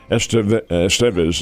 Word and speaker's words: Estevez: Estevez is how they pronounce his name, is injured, so they brought up Steven Cruz and brought him into the game in the 9th inning.